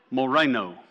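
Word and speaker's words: μωραίνω: This is the Greek word 3471, pronounced moreno. It's kind of where we get our word moron.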